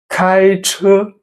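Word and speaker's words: 开车: The first phrase word we are learning is 开车. It means drive or drive a car. 开开. The 5 flat tone, the first tone. 车开车. High flat tone.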